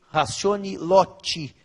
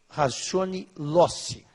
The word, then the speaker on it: ratione loci: Os que usam a pronúncia italianada diriam ratione loci, mas a gente usa a pronúncia aportuguesada. Ratione loci.